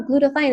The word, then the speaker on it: glutathione: why is glutathione and I thought it was being mispronounced and they were like no glutathione and so I was like